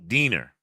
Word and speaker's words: Diener: Denure rhymes with greener. Oh, so Diener.